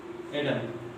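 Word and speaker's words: Adam: एडम बोलेंगे, वो कभी भी आदम नहीं बोलेंगे। इसलिए इंग्लिश में आदम को एडम बोला जाता है।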